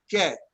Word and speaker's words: que: U to make that, like when you ask the question, que, right? Because that sounds like a K, que.